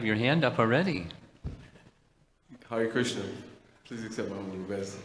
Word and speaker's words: Krishna: Krishna is actually, the Orthodox pronunciation is that the R, the S, and the A are cerebrals, and the N are cerebrals, which you should pronounce with the tongue on the top of your mouth, like this.